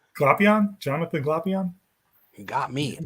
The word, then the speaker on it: Glapion: Glapion, Jonathan Glapion.